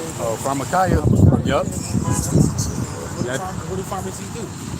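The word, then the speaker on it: pharmakeia: Oh, pharmakia.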